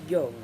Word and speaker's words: Jung: prevalent in our society jung believed as i do pronounced young that many people experience